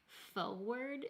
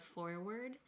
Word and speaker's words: forward: in the country that say forward instead of forward. Like they don't pronounce that first R in that word.